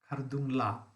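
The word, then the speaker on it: Khardung La: Again, mispronunciation, Khardungla. La means pass. But we keep on forgetting and we go on saying Thanda Kuldring La.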